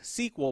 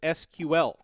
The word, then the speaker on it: SQL: sequel sequel is actually a acronym that is pronounced sequel but it's actually stands for the structured query language SQL but in in in current day time you